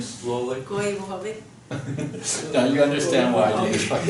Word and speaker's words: Koivuhovi: Okay, so my name is Koivuhovi, and I come from the you want to pronounce that, the last name slowly? Koivuhovi.